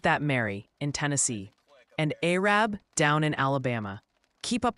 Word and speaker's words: Arab: They're gently reminding you it's pronounced Maryville. Really hit that Mary in Tennessee. And Arab down in Alabama.